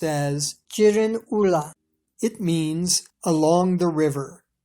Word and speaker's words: Girin Ula: In the Manchu language, the name of this area is pronounced as Jiren Ula.